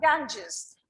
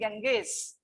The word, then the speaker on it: Ganges: how it is pronounced i have heard many children in this class saying genghis it's wrong okay we say kanjis the next is the